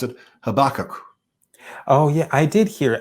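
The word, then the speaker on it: Habakkuk: they all pronounce it habak oh yeah I did hear it's a different stress it's more or less the same way it's a stress a little bit later on into the word yeah yeah we have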